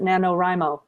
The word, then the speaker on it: NaNoWriMo: Here in America, we pronounce it NaNoWriMo.